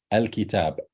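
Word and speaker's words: الكتاب: So if it's followed by lam, you pronounce it as fatha, Hamzatul Maftuha. You say al-kitab, al-qamar, al-rajul.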